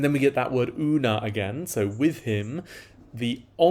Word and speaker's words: una: we can start with this word una which is UNA with a long a it's an adverb that